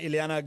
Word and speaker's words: Iliana: to say Iliana, I totally mispronounced your name cuz I had the thing was far away from me, and I was calling you. I couldn't see it right. Iliana, good to have you here.